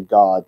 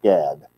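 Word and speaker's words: גד: So they don't say God to mean God like we do in English. Y'all follow what I'm saying? Most people would read it Gad, but it's pronounced in Hebrew God.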